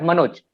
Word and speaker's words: Manoj: For example, we have Manoj, ma, Noj. We have 2 syllables.